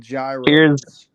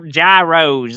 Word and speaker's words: gyros: Is it wrong to pronounce them gyros? Gyros, that's right.